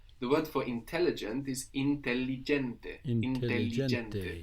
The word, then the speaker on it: intelligente: The word for intelligent is intelligente. Intelligente. We have two L's there and we pronounce them both.